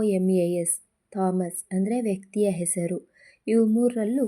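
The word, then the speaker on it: Thomas: ಆಗಿ G silent ಆಗಿದೆ ಹೆಚ್ silent ಆಗಿರುವಂತ ಪದಗಳು ಹಚ್ ಓ ಎನ್ ಓ ಯು are honour ಹಚ್ ಓ ಯು ಆರ್ ಅವರ್ ಟಿ ಹಚ್ ಓ ಎಂಎ ಎಸ್ ಥಾಮಸ್ ಹಾನರ್ ಅಂತಂದ್ರೆ ಗೌರವ ಆವರ್ ಗಂಟೆ ಥಾಮಸ್ ಇದು ಒಂದು ವ್ಯಕ್ತಿಯ ಹೆಸರು ಇದಿಷ್ಟರಲ್ಲಿ ಕಾಮನ್ ಆಗಿ ಹೆಚ್ ಸೈಲೆಂಟ್ ಆಗಿದೆ ಇದೇ ರೀತಿ ಇನ್ನು ಅನೇಕ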